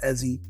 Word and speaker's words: Eze: um really my name's eie uh it's pronounced Eddie with a z so eie I really had the